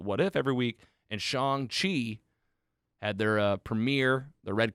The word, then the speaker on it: Shang-Chi: Eternals does more for me than this Shang-Chi. That's Shang-Chi. Whatever. People say it wrong. Me and Andy have read about it, so we try to say it right.